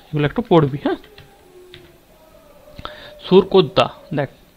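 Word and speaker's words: Surkotada: আমরা পড়েছি আগের দিন যে আমাদের সুরকোদ্দা আবিষ্কার করেন জে.পি. যোশী 1972-এ। দেখ, সুরকোদ্দা হলো বা সারকোদ্দা, এটা উচ্চারণ অনেক সময় অনেক রকম হয়, নিজেদের কিন্তু বুঝতে হবে।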